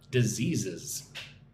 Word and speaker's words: diseases: You need to hum, zzz, diseases.